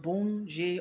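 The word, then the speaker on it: Bondye: god the supreme deity to be bonjour it's pronounced boon jay or good god so born meaning good je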